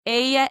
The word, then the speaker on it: ella: Or we would say ella es. Ella means she and es means is. So she is. Ella is spelt E-L-L-A. Just like the name Ella in English.